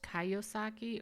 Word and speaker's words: Kiyosaki: It looks like it's pronounced Kiyosaki or Kiyosaki.